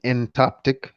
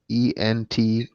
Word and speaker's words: entoptic: And entoptic. It's how it's pronounced though.